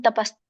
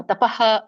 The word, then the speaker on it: ತಪಃ: ಶ್ಲೋಕ ಯಜ್ಞದಾನತಪಕರ್ಮನತ್ಯಜ್ಯಂ ಕಾರ್ಯಮೇವತ ಯಜ್ಞೋದಾನಂ ತಪಸ್ತ ತೈವ ಪಾವನಾನಿ ಮನೀಷಿಣಾಂ ಉಚ್ಚಾರಣೆ ಯಜ್ಞದಾನ ತಪಕರ್ಮ ತಪಹ ಹೇಳಬೇಡಿ ತಪಃ ಕರ್ಮ ನತ್ಯಾಜಂ ತ್ಯಾಜ್ಯಂ ಕಾರ್ಯಮೇವ ತತ್